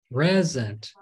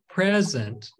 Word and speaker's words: present: When two syllables can be used as a noun or a verb, you stress the first syllable for nouns and the second syllable for verbs. For example, present, present. The pre is stressed, it's emphasized because it's a noun, present.